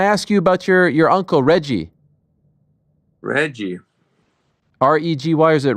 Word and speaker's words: Reggie: Or is it Hegi? He passed away, but... You wrote something very nice about him. Tell me. Well, is that how you pronounce his name? Yes, Reggie. Reggie.